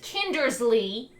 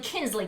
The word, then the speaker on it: Kindersley: So I mispronounced it in the first video because I've always been bad at pronouncing it. It's the Darling and Kindersley Company, but I call it the Darling Kinsley Company because it's faster to say it that way.